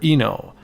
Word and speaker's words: Eno: late Kenji II no I'm not sure if you actually pronounce his name n o or Eno I'm gonna say Eno for now because I'm a North American and well that's just the way it is the game was developed